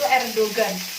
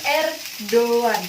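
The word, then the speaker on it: Erdoğan: Kalau orang kita bilang itu Erdogan karena G-nya dibaca. Kalau dari ejahan Turki itu Erdogan pakai yumuşak G. Jadi R do yumuşak G A N Erdogan. Jadi dia ada tapi tidak ada.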